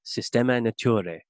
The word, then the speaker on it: Systema Naturae: the first edition of its systematic natural catalogue, Systema Naturae, from 1735.